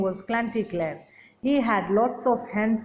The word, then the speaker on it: Chanticleer: Now, how do we pronounce it? It is Chanticleer, but we don't say Chanty, we say Cla. Like Chanticleer, with a host of hens and other animals in a yard.